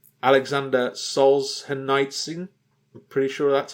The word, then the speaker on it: Solzhenitsyn: Alexander Solzhenitsyn. I'm pretty sure that's how it's pronounced.